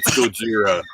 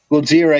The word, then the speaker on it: Gojira: It's Gojira. Godzilla, yeah, and the Americans thinking that they didn't pronounce L's called it Godzilla. Something Right?